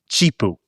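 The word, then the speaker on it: Zhipu: So it says Jipu, but I'm aware that it's not actually pronounced Jipu. It is Jipu. Jipu.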